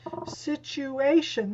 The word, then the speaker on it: situation: that's the second syllable situation that's the third syllable so it's not the